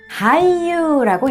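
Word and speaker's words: 俳優: 우선 배우라는 단어는 하이유라고 읽습니다. 하이유.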